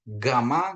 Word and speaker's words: gamma: Kalau tenggorokannya bergetar, dia berarti itu benar, gamma gitu ya. Bukan gamma, gamma kan nggak bergetar di tenggorokannya, gamma gitu ya.